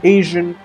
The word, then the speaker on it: Asian: jura sound as a measure that's used to pronounce it so it becomes Asian and Asiatic of course the term Asiatic is